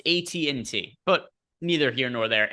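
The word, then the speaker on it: AT&T: elders Craig you shouldn't you shouldn't pronounce a T and T wrong probably not you shouldn't call it ATT it's a TNT but neither here nor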